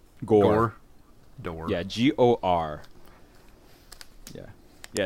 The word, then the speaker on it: Gor: Rog? Gore. Gore. Yeah, G-O-R. Yeah. Yeah, it's pronounced Gore with an E, but spelled minus the E for whatever reasons.